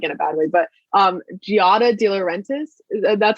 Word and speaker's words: Giada De Laurentiis: anything, not like in a bad way, but Giada De Laurentiis, that's how you say her name, from the Food Network.